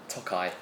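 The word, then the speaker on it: Tokaji: Tokai.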